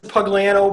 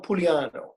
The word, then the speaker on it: Pugliano: it right that's good I pronounce it pugliano but uh many many variations it's it's an Italian name it should be pulo ah it's I don't say it that way so well and we're